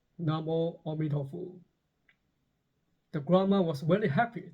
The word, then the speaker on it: Namo Amituofo: The monk praised her dedication, but corrected her by saying, "Oh, that's very good, but the mantra should be pronounced as Namo Amituofo."